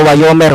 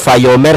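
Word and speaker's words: ויאמר: Nah, itu cara bacanya ada dua. Yang pertama wayomer. Kalau yang modern fayomer.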